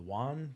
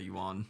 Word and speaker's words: yuan: The yuan, the yen? Yuan is how I've heard it.